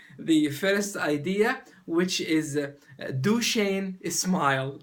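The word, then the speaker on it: Duchenne: first idea which is duain is smile I pronounce it duain because it's similar to my name d hin smile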